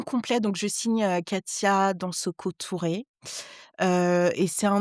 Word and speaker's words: Dansoko: Euh mon vrai nom de famille c'est Dansoko euh qui se prononce dansor avec un H en vrai.